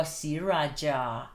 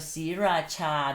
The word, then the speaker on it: Sriraja: The other one is j a, but you still read it Cha.